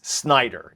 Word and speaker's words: Snider: just can't take this it's Snider it's not Schneider and the jury is